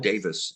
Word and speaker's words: Davies: T Davies uh yeah or pronounced Russell te Davis in in England here it looks like it's supposed to say Davies but um you know that